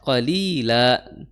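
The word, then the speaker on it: قليلا: Kemudian qolila mad iwat di situ la dua harakat ya dua dua harakat qolila ya jangan sampai kepanjangan kemudian dibacanya jadi illa qolila nisfahu a inqu minhu qolila.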